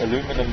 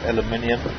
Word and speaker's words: aluminium: in tin foil or aluminum foil. Should I say aluminium? Because aluminum is wrong. It's actually pronounced aluminium.